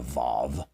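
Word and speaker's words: וָו: Luca, there's something called the waw, W-A-W in Hebrew. It basically is this word and right here. W is how it's pronounced. It's one single letter, but it's called the waw, the vav, W-A-W.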